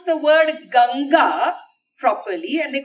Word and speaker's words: Ganga: mistakes but then those fellows who cannot even pronounce the word ganga properly and they they call it the Ganges and the Himalayas they don't have a problem